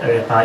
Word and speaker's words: ereta: 8 is called ereta, it's pronounced as ereta.